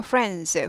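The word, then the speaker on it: friends: 되죠 친구들은요 프렌드 자전거 프렌즈 프렌즈에서 드가 묵음을 하는데 발음이 안 나는 건 아니지만 튀는 바람은 아니에요 그래서 입모양은 해줘요 그런데 잘 들리진 않아요 그래서 나는이 모양은 해준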